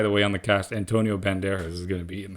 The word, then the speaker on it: Antonio Banderas: Banderas. Is that how you say his name? Yeah, Antonio Banderas.